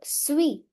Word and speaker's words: suis: Je suis Je suis. Last s silent.